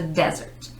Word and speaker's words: desert: Desert, emphasis on the first syllable, 1S.